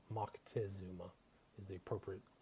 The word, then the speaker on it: Moctezuma: guy by the name of Moctezuma or mod Montezuma as they say here in the States but it's Moctezuma is the appropriate pronunciation so this is a reading from the